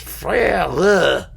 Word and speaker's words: frère: You have to be doing and you pronounce those last letters, frère, whereas you don't say that in spoken French.